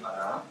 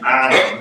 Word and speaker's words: Alain: It's not a big problem because technically I am Alain, French, but in the United States I am Alain.